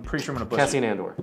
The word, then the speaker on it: Cassian Andor: Cassian Andor. Cassian Andor.